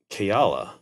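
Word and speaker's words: Kaela: it up later and it's like Hawaiian origin and it's pronounced keala that's kind of cool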